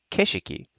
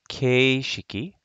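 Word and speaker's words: 景色: kishiki is actually pronounced it's not pronounced keishiki it's pronounced keshiki so i thought it was really interesting that if i write this out keishiki that's not really the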